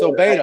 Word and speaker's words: Obeda: I'm sorry for not pronouncing your name right. it's Obeda.